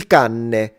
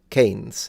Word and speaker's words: cane: And then, because it makes it sound very Italian, I've heard foreigners mispronounce the one on the left and say, il canne. But that's not, no, this is canne. Canes. This is cane, un cane.